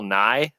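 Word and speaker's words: Nighy: black comedy about an assassin played by Bill NY the British actor not the Science Guy and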